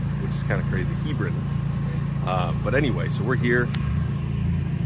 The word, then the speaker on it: Hebron: We had to talk to somebody from here to learn how to actually say it properly, which is kind of crazy, Hebron.